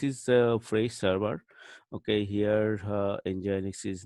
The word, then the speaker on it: nginx: you some idea about Ingenix so enjoy hexa is the server so we can pronounce like in gene X so that is one